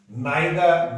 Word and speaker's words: neither: इसमें है नाइदर नॉर। इसको कई लोग कंफ्यूजन बस इसका जो साउंड करते हैं नाइदर, यहां ये रे साइलेंट है, नहीं बोला जाएगा नाइदर। इसको नीदर नहीं बोला जाएगा, नाइदर बोला जाएगा।